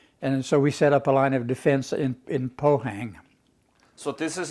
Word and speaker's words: Pohang: You pronounce it Pohang, I guess.